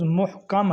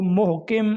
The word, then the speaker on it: محکم: پہلا لفظ ہے محکم۔ اس کا درست تلفظ محکم ہے، میم پر پیش ہے، کاف کے اوپر زبر ہے۔ بعض اس کو محکم یا محکم پڑھتے ہیں، یہ غلط ہے۔ اسی طرح ایک لفظ